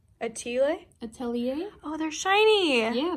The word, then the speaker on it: atelier: I've been saying J. Atler. Oh yeah, it's French. J. Atelier?